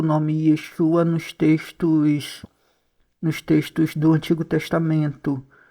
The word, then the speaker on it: Yeshua: Yudishim Vaviai, que é pronunciado Yeshua.